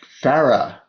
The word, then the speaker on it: Farah: And Farah, is that your name? Did I pronounce it correctly? You're right to the spot.